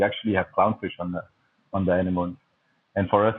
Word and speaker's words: anemone: we have a lot of anemone. I pronounce it anemone. Some people say anemone, right?